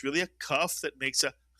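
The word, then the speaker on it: כף: With a daghesh, it is the k sound, kaf.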